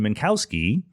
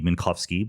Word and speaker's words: Minkowski: step was by hermann minkowski probably should be minkowski but i'm going to pronounce it using an american pronunciation uh minkowski had been